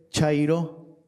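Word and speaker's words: χαῖρε: Bueno, en su idioma original, la palabra salve se escribe, bueno, o se pronuncia, perdón, no tiene ninguna connotación política, se los prometo, pero salve es chairo.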